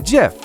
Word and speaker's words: GIF: I said, "No, it's a GIF. It's spelled G I F, but it's pronounced like Jeff peanut butter."